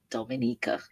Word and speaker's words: Dominica: oh we calling Dominican it is spelled D o m i n i c a it is not Dominican Republic it is pronounced Dominica and is situated between